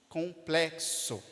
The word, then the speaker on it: complexo: de representar dois sons complexo complexo percebe que é o som de KS colplexo complexo som de